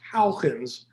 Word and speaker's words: Huygens: My Dutch friends say it's pronounced Huygens, but it's difficult enough giving this lecture without trying to practice perfect Dutch.